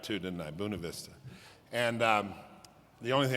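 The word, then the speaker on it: Buena Vista: buav Vista said it right too didn't I buav Vista and um the only thing I can tell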